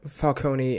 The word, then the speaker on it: Falcone: Why he was just what if Falcone or Falcone, I forgot they pronounce it Falcone in the movie.